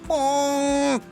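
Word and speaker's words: Ponkh: It's not pork, it's pork.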